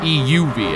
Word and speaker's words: EUV: EUV, I guess, would be the correct emphasis on the syllable there.